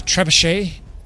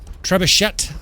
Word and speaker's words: trebuchet: I think it's French, right? The trebuchet. Trebuchet. I've heard people pronounce it. I'm almost certain it's trebuchet.